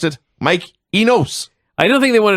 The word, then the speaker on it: Enos: Or as the announcers pronounced it, Mike Enos. I don't think they wanted to call him Mike Anus all night.